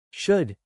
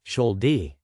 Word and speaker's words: should: In the words should and shouldn't, the letter L is silent. So, we say should, not shol-d.